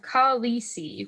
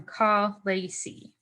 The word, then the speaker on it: khaleesi: The pronunciation of ka-li-si was changed from ka-le-si.